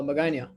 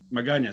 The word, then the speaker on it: Magana: how do you say your last name uh magana magana said magana stuff i've been saying it wrong